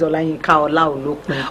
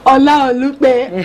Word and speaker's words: Olayinka Olaolopin: Her name is Olayinka Olaolopin. Good to have you on Be This World. Thank you very much. I hope I didn't murder that name. Don't worry, my name is Olayinka Olaolopin. Olaolopin.